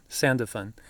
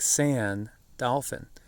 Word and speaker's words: Sandalphon: I discovered, for instance, I always called that archangel Sandalphon, not like sand, dolphin. Sandalphon is actually, the name of the archangel.